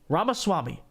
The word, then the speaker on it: Ramaswamy: you say vivik's last name Rama Rama Swami ramaswamy for president of the United States so I've